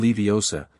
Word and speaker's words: Leviosa: "You're saying it wrong," she insisted. "It's Levi OSA, not Leviosa."